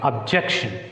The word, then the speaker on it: objection: So you can put stress mark on J because it ends with ION. So whenever a word ends with ION, it takes stress on the penultimate syllable, second syllable from the end.